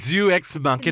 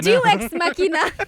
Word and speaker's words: Deus ex machina: Jew ex machina? Deus ex machina.